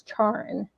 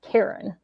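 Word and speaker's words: Charon: mispronounce his name as charin it's actually um and it's spelled c h a r o n but it's actually pronounced Karen feel bad for the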